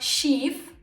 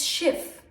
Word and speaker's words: Schiff: Example, Schiff. The consonant is double, so the e becomes short. It's not Schief, it's Schiff, because there's two F's.